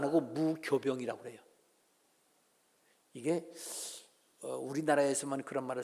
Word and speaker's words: 무교병: 넣는 빵을 말할 때는요, 무효병이라고 안 하고 무교병이라고 그래요. 이게 우리나라에서만 그런 말을 쓰는지 중국말도 그런 발음을 바뀌어지는지 모르지만, 하여튼 이 효자와 똑같이 교라고 발음을 해요.